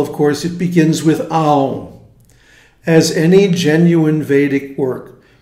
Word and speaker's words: Aum: And as we went over a couple of days ago, it's not Aum. In fact, I have a hard time even doing mispronouncing it properly. A-U-N, and then a moment of silence. Aum.